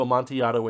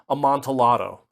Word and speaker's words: Amontillado: is a Spanish word, and so probably the pronunciation is closer to Amontillado in Spanish.